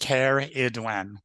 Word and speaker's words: Cerridwen: Cerridwen, pronounced Cerridwen, is described as a